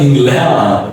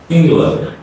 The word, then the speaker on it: England: It's not England. Okay. It's England.